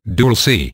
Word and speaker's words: Dulce: a resistance movement which escalated within the Dulce, pronounced Dulce, base 4 years later in 1979, which became known as the Dulce Wars.